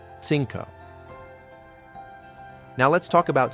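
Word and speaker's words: cinco: The letters Z and soft C sound like S in Latin America, but like th in Spain. Five. CO. Sinko.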